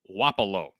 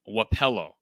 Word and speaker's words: Wapello: wrong here hayden but this town is pronounced wapalo not wapello okay so i don't